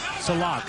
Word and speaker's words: Sillakh: you know you you look at the name salak it's spelled s i l l a k almost like Silk and that's what he